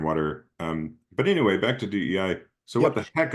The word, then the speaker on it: DEI: Sometimes you'll hear people pronounce it DENI, like pronouncing the ampersand, which Oh, drives me nuts because it sounds like DENI, like there's an N yeah. in the middle of it.